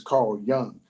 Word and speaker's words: Carl Jung: think his name is Young, even though it's spelled with a J, I think it's pronounced with a Y. So I think his name is Carl Jung.